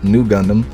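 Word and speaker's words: ν Gundam: For those who don't know, the RX-93V Gundam, pronounced Nugundam, is a mobile suit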